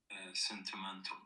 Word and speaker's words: sentimental: Sentimental. Okay. And which syllable has all of the power?